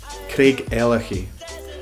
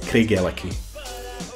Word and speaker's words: Craigellachie: Craigellachie. Again, you can harden that CH and make it Craigellachie.